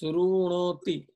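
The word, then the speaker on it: शृणोति: This is srunoti. So if you go here, Sanskrit, see there is a dot under R.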